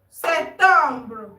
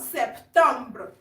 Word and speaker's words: septembre: Janvier, février, mars, avril, mai, juin, juillet, août, janvier, février, mars, avril, mai, juin, juillet, août, septembre. Remember I said the P in September is not pronounced. Septembre, not septembre.